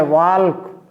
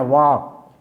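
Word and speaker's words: walk: अंग्रेजी नहीं है कि लिखते हैं वाल्क और पढ़ते हैं वाक। पूछते हैं यल कहाँ गया भैया, तो कहते हैं साइलेंट है।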